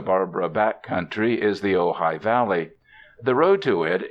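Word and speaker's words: Ojai: name of their home you are to pronounce it ohigh is Indian for nest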